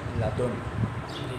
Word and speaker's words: لدن: تو 6 یہ ہیں، اور ساتویں مشہور اس کی قرأت ہے لدن، مشہور تلفظ ہے۔ اس کے بعد آگے فرمایا ومنھا قط، حروف مبنیہ میں سے ایک اور ہے، وہ ہے کیا؟